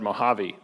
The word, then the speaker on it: Mojave: already forgot someone and some random person on Twitter said Mojave people say along e alright we'll do that